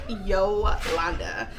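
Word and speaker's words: Jolanda: Yes, it is spelled with a J. And yes, it is pronounced Yolanda.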